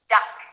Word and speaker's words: duck: Well, dog has a different vowel sound than duck. Dog is longer. We say dog. Compare this to duck, which is very short and a bit sharp.